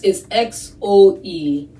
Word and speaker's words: Xoese: and in this song, they're pronouncing it like Jose. It's spelled, so that's the name of my YouTube channel now. I just realized that. It's Xoese.